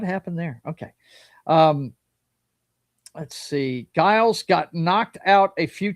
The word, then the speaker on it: Giles: That way, Giles. J is the right pronunciation. Okay, Giles.